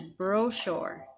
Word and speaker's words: brochure: or bro a safe sound instead of Chuck so the word is brochure not brooch or that's one example